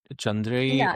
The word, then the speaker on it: Chandreyee: It's Chandre. So you can call me Chandri also.